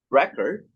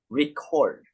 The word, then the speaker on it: record: a word for instance record can be either a noun or a verb depending on whether the stress falls on the first syllable like record record record record as a noun or the second syllable record record as a verb you can see the